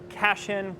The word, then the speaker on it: Cashin: One person I'd like to recommend you to is Kevin Keshin or Cashin, I believe is his name. You can Google him online. It's Kevin Cashin, kind of how it sounds, right?